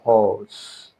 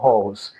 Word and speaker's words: HALS: UV absorber and we have what is called HALS.